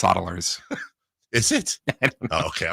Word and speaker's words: Saddlers: I'm not picking the Saddlers. Huddersfield Town. That's right. It's actually pronounced Soddlers.